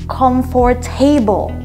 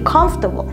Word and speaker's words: comfortable: words and lastly mispronunciation imagine hearing comfort table when it should be comfortable right i totally understand